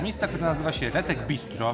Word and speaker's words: Bisztro: Jedzenie w Budapeszcie zaczynamy od miejsca, które nazywa się Retek Bistro. Pisane bistro, no bo esz w języku węgierskim czyta się jako s, a s jako esz.